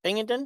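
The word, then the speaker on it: Pingeton: Pingleton?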